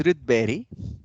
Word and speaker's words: Rydberg: So the correct pronunciation is Rydberg of Sweden.